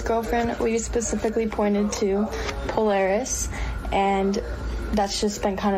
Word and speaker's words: Polaris: You pronounce her name Polaris.